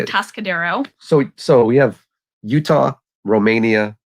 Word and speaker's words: Atascadero: Atascadero.